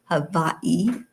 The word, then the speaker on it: Hawaii: So, I'm really really thrilled to be coming to you from Hawaii or Havi as it really is pronounced.